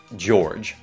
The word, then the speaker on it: George: Mặc dù tên này có hơi nhiều nguyên âm, nhưng nó chỉ có một âm tiết. George.